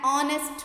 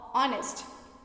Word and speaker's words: honest: And an honest man, H is a consonant but H is silent. Sound is honest.